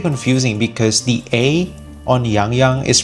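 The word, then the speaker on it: Yangyang: I've heard a lot of English speakers actually pronounce Yang Yang's name as Yang Yang, which is normal, right? But, yeah, in Mandarin, it is pronounced as Yang Yang. Yang Yang.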